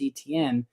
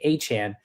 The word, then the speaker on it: Etienne: And Travis Etienne is no longer going to be Travis Etienne, as he clarifies that his last name is actually Achan, but no one could pronounce it while he was in college.